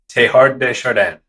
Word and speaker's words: Teilhard de Chardin: Teilhard de Chardin. Now, I don't know how to speak French, but that's the customary English speaker pronunciation.